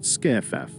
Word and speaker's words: SCIF: secure compartmentalized information space commonly known as scif pronounced skff quickly passes on information